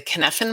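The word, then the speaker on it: Cynefin: through skill stuff is the kenefin model and i think i'm pronouncing it right it's c-y-n-e-f-i-n it's welsh word it's from dave snowden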